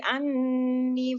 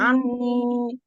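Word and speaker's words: عَنِّي: Anni. Iya. Bukan en-nya ya. saja. En-nya memang 3 harokat, tapi ni-nya juga 2 harokat.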